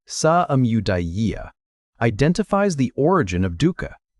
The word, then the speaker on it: samudaya: The second noble truth, samudaya, say it like sa-amudaya, identifies the origin of dukkha, and the word he used for that origin is tanha.